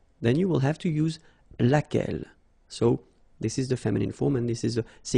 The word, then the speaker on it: laquelle: So basically same rule, Q-U, U is not pronounced here. And then you get this E-double-L-E, well, phonetically here, it is the same as what we have here. So, laquelle. So, the only difference between